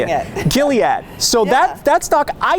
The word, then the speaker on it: Gilead: Gilead. Yeah, that's how you say it. Gilead.